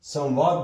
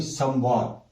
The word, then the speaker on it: संवाद: ये अपने मूल रूप में जो अनुस्वार है इसका उच्चारण होता है, यानी कि इसको हम संवाद बोलेंगे ना कि संवाद।